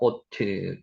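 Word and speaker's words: אות: 다시 나오죠 오트 오트 여기 오 발음이라 그랬습니다 오트 표라는 거고요 마크라는 뜻도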